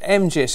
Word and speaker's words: MGIS: It's pronounced MGIS, isn't it? It is, yes.